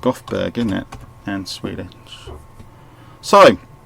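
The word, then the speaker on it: Göteborg: we call in Gothenburg here but you it's pronounced Gothberg in it and Swedish sorry let's expand this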